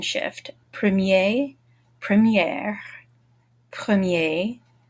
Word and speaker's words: première: Premier, première, premier, première. The feminine forms are all going to sound like they end in air, what you breathe.